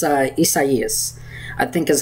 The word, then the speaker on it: Isaias: I think it's Isaias, I think is how you say it. I think it's a Spanish name.